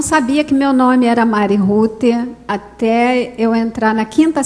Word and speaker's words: Rute: Então é um nome americano, escreve Mary Ruth. Né? Deveria ser, então, Mary Ruth, a pronúncia do Mary Ruth. Mas aí ele escreveu Mari, com Y, e o Ruth é R-U-T-E. Então ficou um nome meio estranho, né?